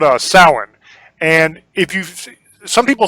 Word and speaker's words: Samhain: Celts and they had a festival called a salhan and if you some people say Samhain some people say salad salad is Samhain Samhain